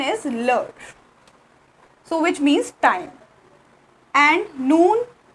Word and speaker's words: l'heure: Here H is silent and we just pronounce only EURE, which is or.